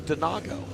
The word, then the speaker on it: Denago: The correct pronunciation, I don't know this, is Denago. I did not know that. So there we go. Donago.